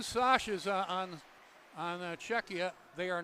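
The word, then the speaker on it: Švec: So there are 2 Sashes on Czechia. They are not brothers. And I know what the name is spelled, but I checked with the Czechia personnel, and SVEC is pronounced Sash.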